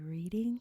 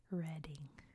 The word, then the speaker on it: Reading: England you are wrong this town is called reading which I'm sure is also baffling to my Americans because that's clearly reading but think it's like read like you read a book reading it's it's it's England